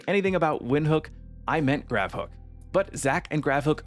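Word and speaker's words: Gravhoek: He said it was like Windhook, and I took that literally, but he simply was referring to the H O E K part of the name.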